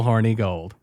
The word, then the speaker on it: Hornigold: But I think when you're just Hornigold, it rolls off but it's horny gold. It's spelled with an I, but it's still horny gold.